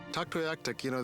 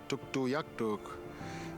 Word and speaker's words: Tuktoyaktuk: Tuktoyaktuk, that's the English pronunciation of our community. We pronounce it Tuktoyaktuk, which means resembling a caribou.